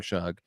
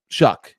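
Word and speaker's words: Shough: I want to talk about Tyler Shugg because there are a lot of people they're going to have to apologize for how they were talking about Tyler Shugg. Shuck actually is how we pronounce it.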